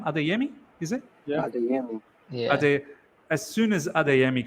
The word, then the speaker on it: Adeyemi: of nowhere, as soon as how do you pronounce his name? Adeyemi, is it? Yeah. Adeyemi.